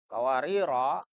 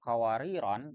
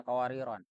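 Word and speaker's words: قواريرا: Nah, agar selaras itu kawariro ditanwinkan juga sehingga bisa dibaca kawariro. Kalau dibaca tanpa tanwin kan bacanya kawarir jadinya. Tapi kalau membacanya dengan kawariron yang pertama, kan yang kedua juga sama. Bacanya kawariron agar sesuai.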